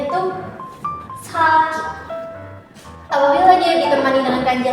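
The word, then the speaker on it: 先: sendiri seperti ini, nggak ada kanji-kanji lain, dan dibacanya itu saki. Apabila dia ditemani dengan kanji lain seperti ini, kanji seperti ini ya, kanji hidup dengan kanji terdahulu. Nah, maka dia dibacanya jadi sen.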